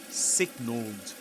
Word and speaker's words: signalled: But the thing is that in the word signal, in the simple past, you pronounce the ending, the ed ending as d. Like this. Signalled, signalled.